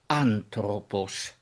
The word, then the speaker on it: ἄνθρωπος: Listen to how I pronounce it: ἄνθρωπος: the accent falls on the third-to-last, that is, on the alpha (α), ἄνθρωπος; so the accent on the alpha must perforce be an acute.